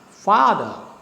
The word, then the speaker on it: father: So fa is stressed, the is unstressed. So you go down, father.